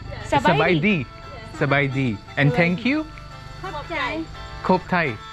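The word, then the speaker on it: ຂອບໃຈ: Khop chai. Khop Thai. Khop chai.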